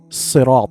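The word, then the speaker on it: صراط: Correction, ensure correct pronunciation of sirat, sirata, as sad, should be pronounced with a heavy sound.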